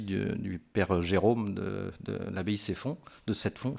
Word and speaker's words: Sept-Fonds: Certains ont peut-être lu parmi vous l'avis du père Jérôme de l'abbaye Ceffonds, de Sept-Fonds, je ne sais pas comment on dit, je crois qu'on dit Ceffonds, mais ça s'écrit Sept-Fonds.